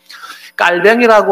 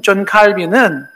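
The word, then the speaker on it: Calvin: 깔뱅이라고 하는 불어식 발음으로 얘기를 하지만은 존 칼빈은 장로교를 시작한 사람이라고 볼 수도 있고요.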